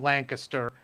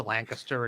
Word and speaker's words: Lancaster: be very close to Lancaster and Valley Forge. They pronounce it as Lancaster, not Lancaster, like you should.